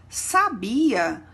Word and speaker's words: sabia: Quando pronunciamos sabia, não possui acento, não é verdade? Quando a gente pronuncia sabiá, percebemos o acento agudo na última letra. E quando pronunciamos sábia, percebemos o acento agudo na letra A, que segue o S. Então, a pronúncia de cada uma das palavras se torna diferente.